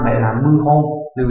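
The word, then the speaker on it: 謀反: là bo, không phải bo han mà là mưu hô, lưu ý nhé, đấy là cái đọc đặc biệt của nó.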